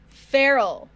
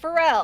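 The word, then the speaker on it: Ferrell: did you hear that comic feral not pharrell all right all right if i need to remember how to pronounce his last name i just need to remember that he is feral like a wild animal he's got rabies yes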